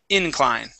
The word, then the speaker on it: incline: um uh shallow incline so our stress is going to be here at the beginning instead of at the end of the word incline incline good good uh let's